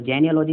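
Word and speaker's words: genealogy: तो जेनियोलॉजी होता है, जेनियोलॉजी पूरा जनरेशन, है ना, जनरेशन, और लॉजी मतलब अध्ययन।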